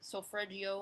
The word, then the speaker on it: solfeggio: I'll actually have like either subliminal stuff on, or I'll have some sort of binaural beats or solfeggio. I think I mispronounced that.